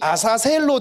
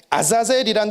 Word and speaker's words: 아사셀: 아자젤이란 단어가 이게 발음이 아사셀로 되는 거예요.